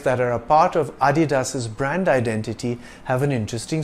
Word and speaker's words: Adidas: part of his surname it's not pronounced Adidas or Adidas it's Adidas dasler got American Sprinter